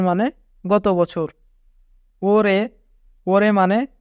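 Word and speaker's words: 올해: ওরে মানে এ বছর। যদি রিউল বাচ্চিমের পরে হিউত থাকে তবে রিউল বাচ্চিমটি হিউতের স্থানে চলে যায়, তাই এখানে উচ্চারণ হবে ওরে মানে এ বছর।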